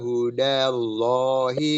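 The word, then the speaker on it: هدى الله: in hudallahi qul inna hudallahi hua qul inna hudallahi qul inna hud hudanya pendek ustaz gimana ya hudanya ya langsung bersambung dengan kalimat jalalah Allah gimana bacanya i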